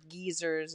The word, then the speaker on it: geyser: wonder if they have any geysers or geezers as they call them in the uk right well it works